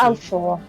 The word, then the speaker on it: Balfour: the name on the yeah, Flynn and Belfort. Balfour. Yeah. Yeah, Balfour. I understand. You don't pronounce the T.